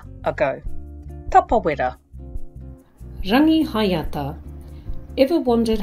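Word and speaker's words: Rangihaeata: Rangi hayata. Ever wondered how to say it correctly? It's not rangihata, it's rangihayata.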